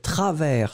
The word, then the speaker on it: travers: r&i us mystérieuse ensuite travers souvenez-vous s final qui n'est pas prononcé travelsmart2010 le prononcent pas ensuite